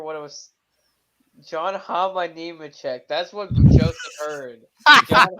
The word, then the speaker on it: Nemechek: I heard Nemahami-check or something like that. What? It's Joe Nemechek.